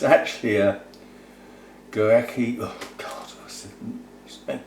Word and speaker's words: Guarechea: a type maybe but it's it's actually a gorecki and pronounceable names g-u-a-r-e-c-h-e-a gorekia i suspect orga black comet anyway and how